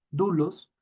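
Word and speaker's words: δοῦλος: mencionar nuestra querida kerly dulus o dulos que sería en una pronunciación más asertiva dulos que es esclavo pero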